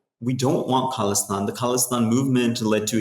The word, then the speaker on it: Khalistan: Khalistan is, yes, it was an attempt to create a nation state, autonomous nation state in.